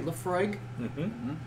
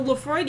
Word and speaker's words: Laphroaig: how do you say laphroaig okay you do pronounce the g um i wasn't sure